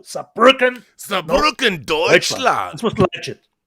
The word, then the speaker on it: Saarbrücken: Anyway, I am but Pharaoh if he wants to pronounce it correctly, you have to do it like Rob does, with power, push it through, Saarbrücken.